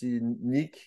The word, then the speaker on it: Nike: for for example is you say a Nike for example in French you pronounce Nick and Nick means so